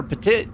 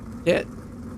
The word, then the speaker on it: Petit: Tanner Petit. I said it right. Petit. All right. It, like pet your dog and then pet it.